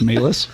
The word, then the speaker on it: Malice: random words too okay it's also not malice it's melis it's not joey it's